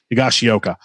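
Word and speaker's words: Higashioka: for uh kyle i have a hard time pronouncing his name higashiyoka boom nailed it uh magliocchetti yeah you got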